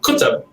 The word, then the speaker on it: Qutub: And our last name is Qutub, which is in Arabic Qutub. And we just kind of keep it easy for people and say Qutub because it's kind of how it looks when you spell it.